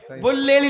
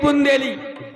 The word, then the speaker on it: बुंदेली: है बुंदेली में हो बुल्लेली नहीं बुंदेली रात श्यामुनि बैया पकड़ी रात श्यामुनि बैया पकड़ी बैया पकड़ी कहे बैया पकड़ी भैया पकड़ी आज ये श्री के सकता हाँ।